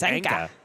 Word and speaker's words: Anka: It's Anka. Anchor. Sounds like Anchor.